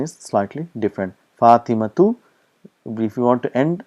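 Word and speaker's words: فاطمة: we pronounce that is how it is pronounced pronunciation is slightly different fatimatu if you want to end at the time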